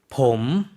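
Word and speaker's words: ผม: 남자가 나라고 이야기할 때 어떻게 발음하죠? 봄, 네, 봄. 사성으로 발음을 했어요.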